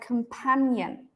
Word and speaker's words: companion: write it we would write companion like this right this means that this one is stressed so whenever you learn